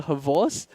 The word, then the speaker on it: XBOCT: I'm not sure if you've heard of the player Havos, and if you look at the way the Havos is spelled, is XBOCT, but it's pronounced like everyone calls him Havos.